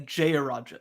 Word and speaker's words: Jayaraja: It's and then Jayaraja is how you say the last name.